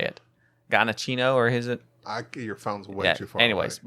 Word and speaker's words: Giacchino: Michael Giacchino. Is that him? Yeah, that's Oh. That's how you see right here, Gabby. That's how you say it. Giacchino, or is it?